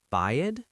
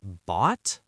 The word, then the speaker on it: bought: Is it bought? Yes, but it has a lot of silent letters, but it sounds like bought.